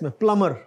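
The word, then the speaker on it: plumber: नट percentage और आगे प्लमर B silent इस प्लमर पग सॉरी इतना य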